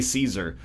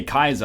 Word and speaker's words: Caesar: not great foreign policy do you Americans actually pronounce it as Kaiser no we say Caesar the only people who say Kaiser are like actually in the through Latin pronunciation